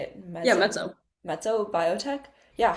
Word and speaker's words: Mezzo: I'm not sure how to say it, Yeah, Mezzo.